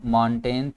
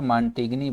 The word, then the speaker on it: Montaigne: यहाँ पे ये भी याद रखना है कि इनके स्पेलिंग जो है, स्पेलिंग्स को देखा जाए तो मॉन्टेगनी बनता है, लेकिन इनका नाम, इनकी प्रोनाउंसिएशन जो है वो मॉन्टेन है, क्योंकि ई जो होता है वो अक्सर जब वर्ड्स के एंड पे होता है तो वो साइलेंट कंसीडर होता है।